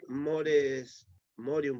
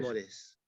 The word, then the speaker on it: mores: Con respecto al Morium, ¿puede ser si lo pronuncio bien? Perdón, Con respecto con el Morium, ¿puede ser? ¿Lo pronuncio bien o no? Que es costumbre de los antepasados. Amores. Amores. Mores.